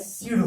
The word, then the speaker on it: pseudo: Known as सीडो solids, PSEUDO, P silent रहता है यहाँ पे, they are known as सीडो solids.